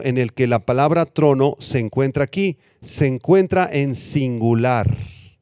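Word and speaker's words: θρόνος: trono es la palabra griega tronos con th y acento en la o tronos y esta palabra está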